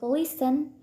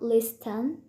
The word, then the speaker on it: listen: Kemudian aturan ini juga berlaku untuk listen, not listen, fasten, not fasten, dan whistle, not whistle. Kayak gitu.